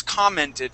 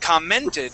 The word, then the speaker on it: commented: The word is commented, but you said commented, putting the Yeah. accent on this E right here. So the accent goes at the very beginning.